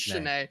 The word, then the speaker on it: Sheney: on Saturday night, because they kept saying Sheney, and I was like, look at these idiots in the press box. I don't even know the name of the guy. And then I checked the pronunciation guide, and I'm like, oh my gosh, I'm wrong. It is Sheney.